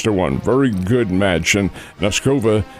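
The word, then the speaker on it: Nosková: Nuscova who is 21 years old I believe and she pronounces it Noskova.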